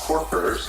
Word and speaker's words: Corkers: It looks like boots, Corker, but it's pronounced Corkers.